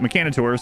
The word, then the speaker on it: Mechanitor: Mechanator? Mechanator? Because the creator of it calls it Mechanator, so that's how I'll call it.